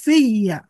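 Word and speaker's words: فيّ: Fi asalnya seperti ini. Fi harap jar ditambah sama iya isim domir. Nah, ketika nyambung kan bertemu antara dua sukun. Oleh karena itu ditulisnya jadi seperti ini. Fiya. Fi iya. Ya-nya tasdid dan dibaca fathah. Fiya.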